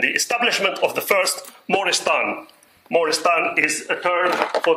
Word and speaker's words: Moristan: establishment of the first Moristan. Moristan is a term for the asylum. The first Moristan was established in Egypt. Some people pronounce it without the A.